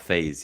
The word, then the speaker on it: Faes: Lissandro Martinez, Gabriel, Shaw and Botman, and then Faze. Is that how you pronounce Yeah, his the name from Leicester player, Leicester? yeah, Wout Faes, yeah.